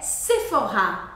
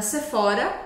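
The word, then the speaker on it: Sephora: uma diferença nos sons o próximo é sefor sefor pois é a marca sefor é Francesa e a gente fala de novo com a sílaba forte no final sefor não é sefora é sefor sefor com esse o bem fechado também sefor e a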